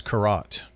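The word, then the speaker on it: Karet: It's not Carrot, it's Carrot. Sorry, Laura. I knew I would do it because it's spelled K-A-R-E-T like the ring, and I even made a joke about it.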